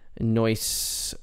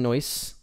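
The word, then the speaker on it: Neuse: to pronounce the name someone told me it's like a noise or noisy i can't remember it's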